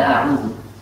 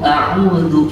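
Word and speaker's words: أعوذ: Mari kita perhatikan kesalahan yang diawali dengan menebalkan tafkhim pada huruf hamzah pada a'udzu. Bagaimana itu? Perhatikan. A'udzu. Perhatikan. A'udzu. Oh. Tapi bagaimana? Mestinya a'udzu. Bukan tapi a'udzu. Perhatikan. Tipiskan hamzahnya.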